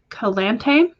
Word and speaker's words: Calante: So you personally pronounce your name as Calante, but you could be wrong.